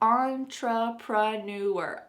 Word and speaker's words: entrepreneur: Entrepreneur, entrepreneur, entrepreneur, entrepreneur.